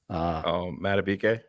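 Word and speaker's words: Madubuike: Matabike. Matabike, $98 million man and $130 million man.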